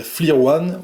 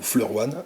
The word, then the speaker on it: FLIR One: Alors pour ceux qui ne connaissent pas, c'est la petite FLIR One, ou FLIR One, si vous prononcez ça à l'américaine.